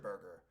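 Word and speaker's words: Buerger: I eat it uh it's called Mr Burger but it's not spelled like the b-u-r-g-e-r it's their actual last name b-u-e-r-g-e-r it's their actual last name the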